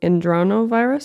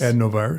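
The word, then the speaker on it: adenovirus: K9, this is the one I can't pronounce. Androno virus, adnovirus.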